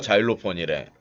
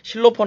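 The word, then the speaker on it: xylophone: 실로폰 하면 알까요? 예, 실로폰을 우리나라에서 읽는 거고, 실로폰이라고 읽으면은 지금 재성 씨가 자일로폰이라고 그런 거를 못 알아듣듯이 실로폰이라고 그러면은 못 알아들어요. 우리나라 악기가 아니잖아요. 서양 악기이기 때문에 정확한 발음 자일로폰이라고 얘기를 해줘야 돼요.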